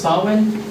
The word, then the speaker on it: Samhain: Their original name for Halloween is it's pronounced Samhain, and Samhain was the day before.